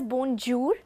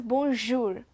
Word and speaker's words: bonjour: It is not being pronounced as bonjour or bonjour, but as bonjour. We have to fix a palate in according to say bonjour.